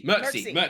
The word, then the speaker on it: Mircsy: How do you pronounce it again, Panda? Something. Mircsy.